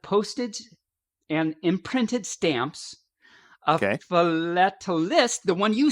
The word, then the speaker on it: philatelist: And you, as an example, you said philatelist.